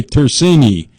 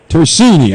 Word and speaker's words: Tersini: I like to say turini tersini did I get it right Justin did you unmute the phone Jeff Justin Y how do you say that last name to tersini tersini I knew I was